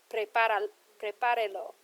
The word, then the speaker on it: Prepárelo: So when I add my lo here, it's added an extra syllable, and the stress would now be falling on the E. So to maintain where the original stress fell, I have to put an accent here.